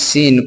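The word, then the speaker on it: صِ: ज़ेर के मात्रा के आ जाने से अब इस सीन को इ के रूप में के रूप में सी पढ़ेंगे।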